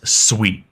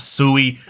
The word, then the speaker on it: Sui: Aptos as well so first off what is sweet and first off what's how is it pronounced it is Sweet It Is Not sui I've been corrected multiple times so if you